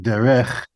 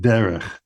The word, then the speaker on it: derech: I'm not saying derech, I'm saying derech. One of the characteristics of a Segolet noun is that the accent is on the first syllable.